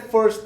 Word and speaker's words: FIRST: Bom, e ele fala também dos princípios FIRST, que é FIRST, que vem, a gente pronuncia em inglês é first, de primeiro em inglês, certo?